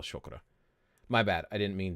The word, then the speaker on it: chakra: Not chakra, chakra. And I'm pronouncing it like that based upon hearing someone who is Indian, hearing them speak and talk about it in videos. They pronounced it chakra. And I'm sure depending on what region of India you were from, you might pronounce that slightly different.